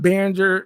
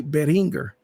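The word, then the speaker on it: Behringer: think it was Beringer and it's actually not Binger or B is actually Beringer Binger um simply because he's German and if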